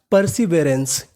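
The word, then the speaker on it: perseverance: सेंटेंस को देखते हैं पीई आर पीई आर को क्या पढ़ना है पर सी आई सी पर स वी ई इसे पढ़ेंगे वे परसी वे ए एन सी ई इसे पढ़ते हैं हम लोग एंस क्या पढ़ते हैं एंस तो पूरी मीनिंग पर्सीवरेंस क्या बन गई पर्सीवरेंस पर्सीवरेंस का मतलब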